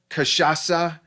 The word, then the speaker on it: cachaça: Um, uh, uh, it's actually pronounced cachaça, if I remember right. That it's a Brazilian C, and that Yeah. if I remember right, that's the S sound.